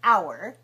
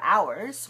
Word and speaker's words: hour: the others the Americas even it starts with a letter H like in the word hour four hours one hour the H is silent so remember we're not